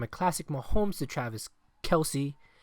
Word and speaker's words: Kelce: Their opening touchdown came from a classic Mahomes to Travis Kelce, unless you want to pronounce it correctly, Kels.